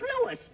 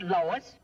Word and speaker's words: Louis: the plant Lois Lois my name is Lewis not Lois Jake whiz everybody in Choice believes me name wrong it's Lewis l o u i s Lois uh Louise